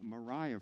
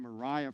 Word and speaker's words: Mariah: she chose the name mariah for herself and that's how it's pronounced not maria i just learned this yesterday so you can always learn new things she chose the name mariah for herself to mark